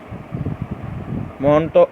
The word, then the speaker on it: Mantoux: tuberculin or montauk test monto although the term is want to test okay the x is here is not pronounced so what is tuberculin